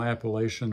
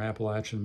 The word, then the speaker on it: Appalachian: little bit of traditional appellation or Appalachian music however you want to pronounce it that does descend